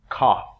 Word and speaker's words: cough: So that's, the spelling's really kind of strange, but the pronunciation on that, cough. Cough.